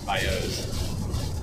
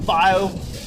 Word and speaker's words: bayou: Bayous.